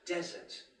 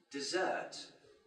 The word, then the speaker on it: desert: the word for example the word desert is it now meaning a dry climate but desert is a verb meaning to